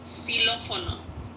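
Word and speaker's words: xilófono: But the way you pronounce them, so the first one is Ixinche. The second one is Ishmukane, and the third one is Xylofono.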